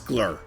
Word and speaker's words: Gloucester: Just pronounce glur. Glur. Glur. Glur. Have you been to Glur recently? It's as few syllables as possible.